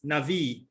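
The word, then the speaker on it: נביא: strong's number h 50 30 and it is pronounced as navi and i'll play the song for you strong's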